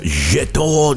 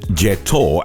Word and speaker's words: Jetour: Meet the Jetour Dashing, or Jetour as it's actually pronounced.